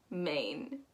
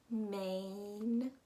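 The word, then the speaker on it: Maine: going up we have main main super easy in my opinion mane that a i sound is pretty common and um it just sounds like the word main without the e so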